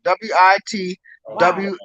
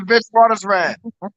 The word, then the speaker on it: Witwatersrand: WIT double like WIT WATER like water. SRAND. That's all one word. WIT WATERSRAN. Oh, thank you. That's it. Yes. University of Witwatersrand.